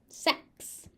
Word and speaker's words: sex: So you have to pronounce the S sound at the X. X in this case is pronounced as a X sound. And you have to get that S in there because otherwise you end up with sec, which is not a word.